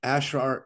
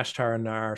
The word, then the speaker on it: Ashtar Anar: page under um your um channel name right ashar I forget how to pronounce it yeah ashtar andar so I don't typically use my the website